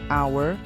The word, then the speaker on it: hour: não a Letra Inicial por exemplo an hour porque o a é mudo mas a university porque